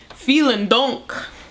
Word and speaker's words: Vielen Dank: Which I remember by saying vielen Dank.